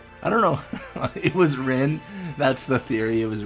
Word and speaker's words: Rin: It was Rin. That's the theory. It was Rin all along. Oh my gosh. Rin's name does rhyme with sin, and that's honestly evidence enough to convict.